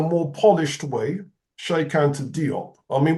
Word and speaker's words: Diop: And then in a more polished way, Sheikh Anta Diop. I mean, we say Diop in the English-speaking world, but apparently it's pronounced Jop.